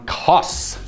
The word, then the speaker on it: Kos: is the option from costs Kos it's pronounced cost this is our favorite